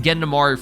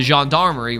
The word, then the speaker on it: Gendarmerie: I'm finally saying it right? I was calling it Gendamari for the longest time. The Gendarmerie, right?